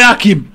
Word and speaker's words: Hakim: Et Hakim. Alors, Hakim, il n'y a jamais de H. Ouais. C'est le H muet, Hakim. Ou Hakima. Il commence toujours par le A.